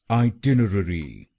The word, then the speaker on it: itinerary: आइटिनरी। आइटिनरी। और ये ध्यान में रखिए कि हमको दूसरे शब्दांश पर यानी TIN पर जोर डालना है।